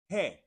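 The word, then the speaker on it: ge: G in Spanish is pronounced he.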